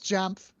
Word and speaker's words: Jamf: He's spelling it out for you phonetically. He's like, that's like sounding it out phonetically. Like it's jaw.